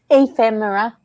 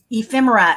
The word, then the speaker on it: ephemera: Oh, because I got something in my invoice said, tell me again, how do you pronounce it? Ephemera. Ephemera.